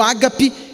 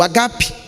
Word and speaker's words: ágape: definir amor o ágape muito comumente traduzido foi pronunciado como a gap mas é o ágape que é o amor